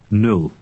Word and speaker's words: nul: Nul. The sound in this word is quite short because it does not stand at the end of a word or syllable.